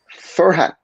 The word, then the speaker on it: Furhat: Furhat, am I mispronouncing the company? Furhat is the name of the company.